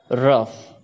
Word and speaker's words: rough: Rough. GH here is sounding like F.